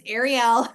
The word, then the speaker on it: Arielle: I asked you right before we got on, and it's not Yeah, Arielle, it's Arielle.